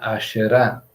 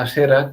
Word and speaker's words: Aserá: Lo que pasa que en hebreo es los cestos rabínicos se pronuncia aserá pero es la clásica asera que leemos en las Biblias castellanizadas cuando abandonó el paraíso